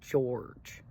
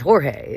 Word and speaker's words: Jorge: They call Jorge George. I was like, really? Yeah, well, like, okay, so George is the English version of Jorge, but it's still, his name is Jorge.